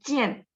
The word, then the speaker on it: 见: Ada jian, ketemu gitu ya. Jian, ketemu ya. Tadi teman-teman ada baca IAN. Ada bacanya gimana? A-nya bunyinya gitu ya. Jian. Jadi J-I-A-N bacanya jian gitu ya.